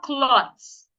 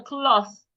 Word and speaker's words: cloth: It is not clots. The th should not be pronounced like a t. Put your tongue outside and say where is the cloth?